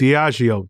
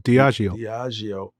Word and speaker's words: Diageo: Diageo. Diageo.